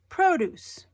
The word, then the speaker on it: produce: it I made it produce when you go into the grocery store there's the produce section that's the fruits and vegetables emphasis on produce is in the first syllable produce next one present or